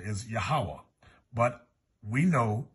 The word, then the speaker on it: Yahweh: I was taught the pronunciation is Yahweh, but we know it's talking about the same